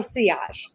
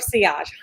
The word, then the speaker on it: Sillage: how's it pronounced but i actually called them and it is house of sias so it is house of ciage hundred percent it is hostile but